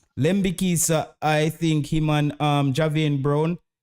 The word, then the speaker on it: Lembikisa: lamborghinisa uh lambiki so somebody say oh a lembi we need to pronounce it lembikisa I think human um